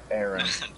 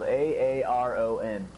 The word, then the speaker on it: Aaron: His name is spelled A-A-R-O-N. Aaron.